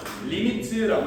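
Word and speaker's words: lim: 이거 뭐라고 읽는다고? 리미트라고 읽는다고.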